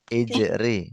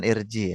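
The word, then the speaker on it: اِجْرِ: Ijri bukan irji ya.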